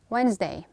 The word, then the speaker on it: Wednesday: guard view Edge Lara Wednesday pay attention no day Wednesday all right handkerchief handkerchief when